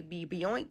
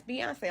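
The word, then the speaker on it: Beyoncé: I'm like, "How do you pronounce what is what does this say?" Be bian. What? Like like most people, I didn't know how to even pronounce her name. It was like, "Oh, that's Beyonce."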